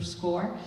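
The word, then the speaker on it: SCOIR: and application process is through score that is spelled SC iir like the European version of score so you want to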